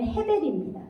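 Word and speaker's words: הֶבֶל: 아벨 아벨이 헤베려 히브리어로 한글로는 아벨이라고 기록이 되어 있는데 원어를 읽으면 헤벨입니다 발음이 그런데 이것이 공허해요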